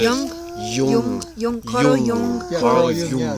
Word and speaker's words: Jung: And it was the really word pronunciation is Jung.